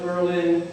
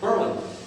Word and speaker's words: Berlin: And we know it's Berlin, Italy, but here they pronounce it Berlin. Not Berlin, Berlin.